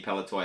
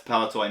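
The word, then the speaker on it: Palitoy: a 45 back C paltoy. I can't remember. Um Lester Kovville Lester told you whoever told me saying it was wrong. I'd say it right next time. So that's palatoy mint on card.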